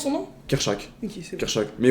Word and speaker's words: Kerchak: C'est quoi, comment on prononce son nom? Kerchak.